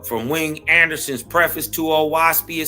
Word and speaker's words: Oahspe: Origin of a Waspy with hints to the reader. Right. Oaspi pronounced oasi. Not ocean spray. Not waspy. Uh uh. Ain't no w sound in it. Ain't no o. It's o right.